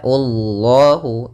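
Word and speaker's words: الله: Kemudian pada lafal Allah di sini lafzul jalalah dan lamnya dibaca dengan tebal, lam tafkhim. Ya, Allahu, karena sebelum lafal lam atau lafal Allah ada huruf dhammah.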